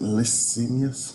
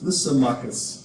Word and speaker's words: Lysimachus: After his death in 323 BCE, the city fell under the control of, how you say it, Licinius? Lysimachus.